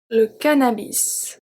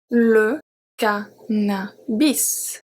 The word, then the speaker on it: cannabis: We have le cannabis. Le cannabis.